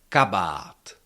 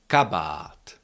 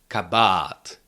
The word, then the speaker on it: kabát: We have the long ah in the second syllable but the stress is still on the first syllable. So you have to say kabat. Kabat. Never can you pronounce it like something like kabat kabat or something like that. That that doesn't sound like a check word anymore.